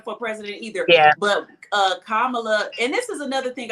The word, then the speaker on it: Kamala: said, "You guys can remember Kama, and remember just put the "la" at the end. It's Kamala."